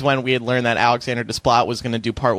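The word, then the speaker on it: Alexandre Desplat: Alexander Desplat. Yes, I know it for a fact. Come on. Why do you think it's pronounced? Well, I can't remember, but I don't think it's that. It is Desplat.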